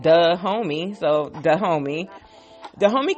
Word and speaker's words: Dahomey: I'm like okay well that should be easy because it sounds like duh homie so the homie the